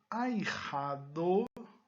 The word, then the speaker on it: ahijado: O H não existe um som característico. Agora, o J, nesse caso aqui, ele vai ter um som de R.